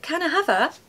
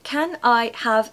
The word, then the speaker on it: can I have: summer holiday but no canah have is a hack it's actually replacing can I have a can I have a now when I say it like that I sound like an actual robot so I'm hoping that's